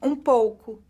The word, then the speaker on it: pouco: Sim, pouco. Sim, pouco. Sim, pouco. Pouco. So U fully pronounced, not like in French that becomes a U.